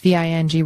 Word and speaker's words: Vinge: farewell message on Facebook Vin pronounced Ving received Hugo awards for